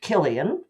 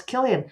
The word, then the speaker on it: Cillian: uh mild mannered librarian coincidentally named Killian but spelled with a c whereas my killing's spilled with a K but um yes I